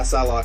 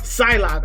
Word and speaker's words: Psylocke: Yeah, Psylocke. Psylocke.